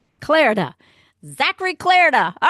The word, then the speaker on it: Clarida: it's gone say it what's your last name Clara Clara Zachary Clara all right I got it woohoo